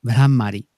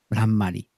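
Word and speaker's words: Bhramari: Es medio raro, la H es aspirada, entonces es Brahmari.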